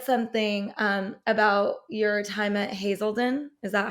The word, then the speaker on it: Hazelden: And you said something about your time at Hazelden.